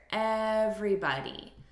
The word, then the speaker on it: everybody: repeat everybody everybody and look at this syllable stress here everybody so we're stressing the first syllable everybody hey everybody repeat